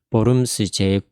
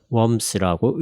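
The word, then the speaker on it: Worms: 보름스 제9회의가 열리는 곳에서 종교재판을 열었습니다. 보름스를 영어로 하면 웜스라고 읽죠.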